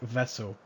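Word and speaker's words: Wessel: the by the way you pronounce my name like vessel so it is vessel vessel vessel it's it spelled the Dutch way so instead of a v it's a w right I'm just going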